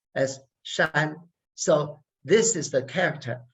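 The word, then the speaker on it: 山: uh shapes three styles of mountain which is pronounced as shine so this is the character and the on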